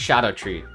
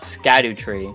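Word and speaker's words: Scadutree: Scadu, so it's not Scadu Tree.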